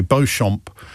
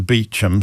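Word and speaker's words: Beauchamp: Bochamp as opposed to Beichchum. So you see Bchamp written down which is French for I think for beautiful field originally. So Beum Square is spelled B E A U C H A M P.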